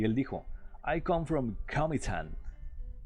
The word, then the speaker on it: Comitán: Y él dijo, I come from Comitán. Y todo el mundo se empezó a reír de él. No, aquí se dice Comitán. No quiera sonar muy gringo. Aquí se dice Comitán, no Comitán. Pero no, está bien.